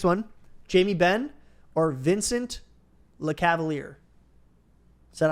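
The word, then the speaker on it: Lecavalier: okay good nice all right so your next one Jamie Ben or Vincent Le Cavalier is that how you say it yeah okay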